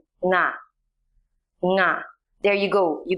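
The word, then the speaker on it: င: The consonant nga, pronounced as its name, nga, is a nasal sound that you have in English gerunds or nouns like ring or sing.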